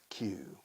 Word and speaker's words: queue: Now I know, Q. The British say queue up.